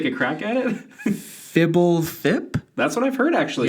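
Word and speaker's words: Fblthp: How do you pronounce this? Do you want to take a crack at it? Fibblethip?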